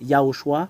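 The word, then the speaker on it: יההוֹשֻׁע: Ya. Ho. Shu. Ah. Et je vous donne, voilà votre sauveur. C'est ça son nom miraculeux. Voilà le Dieu qu'on donne gloire éternellement. Vous avez vu le sauveur, voilà son nom. Il n'est pas comme les autres, Yahushua. C'est ça le nom qu'on prononce ici.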